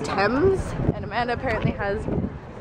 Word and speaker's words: Thames: we're just talking about how the thames is spelled kind of like teams but you say it thames and amanda apparently has